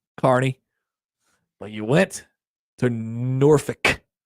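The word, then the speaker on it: Kearney: You know, a lot of people get Carney wrong. Carney.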